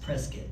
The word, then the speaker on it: Prescott: There's a sign in my sister's house that says it's pronounced Prescott. Hopefully I got that right.